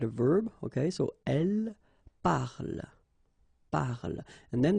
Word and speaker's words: parle: Okay, so elle parle, parle. And then the last thing here that you will hear is the l, l, l.